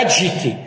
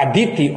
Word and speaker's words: Aditi: Não é Aditi, é Aditi, ou Diti ou Aditi.